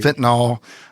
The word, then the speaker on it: fentanyl: First off, let's make sure we pronounce fentanyl right. Yes, right? I hear it's fentanyl, right. Fentanyl, but it's fentanyl. Is that how you supposed to? Is that the proper way to pronounce it?